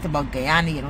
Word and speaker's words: Guyana: your facts right about Guyana. You know, you're pronouncing Guyana's Ghana. Like, you know what? Get it right.